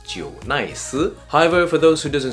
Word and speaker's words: JNICE: familiar with the brand J nice is actually not called J nice because of the Taiwanese Roots it's actually pronounced Jo nice however for those who